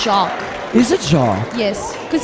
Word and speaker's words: Jacques: So, is that Jackie or Jacques? It's Jacques.